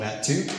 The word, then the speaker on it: MAT2: As Rachel mentioned, I founded a nonprofit 2 years ago called MAT2. It's spelled like tattoo, but with an M.